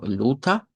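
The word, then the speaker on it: Luther: Debemos estar conscientes que Lutero o luta, como sería la pronunciación en en idioma alemán, con acento no rótico, ¿verdad?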